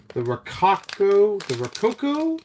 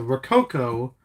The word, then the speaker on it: Rococo: So Rococo is the pronunciation according to Google Translate. Take that as you will.